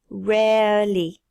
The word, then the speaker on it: rarely: Le deuxième R ne s'entend pas. Rarely.